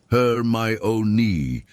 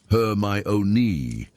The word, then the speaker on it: Hermione: She corrected him when he mispronounced her name, insisting gently but firmly that it was Hermione and not Hermione, and there was something charming about her determination to be heard correctly.